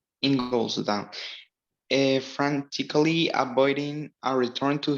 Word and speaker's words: Ingolstadt: How do you pronounce it? Ingolstadt. Ingolstadt.